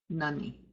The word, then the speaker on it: Nani: Remember how the upsilon sounds, or in this case it's the italicized V. Same thing, same sound. Nani, with a short ah sound.